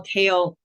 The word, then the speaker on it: CAEL: or sometime I guess the reason we call Kale the kale test and it's spelled this way is because the word kale is an acronym it stands for the Canadian academic English language test so academic is the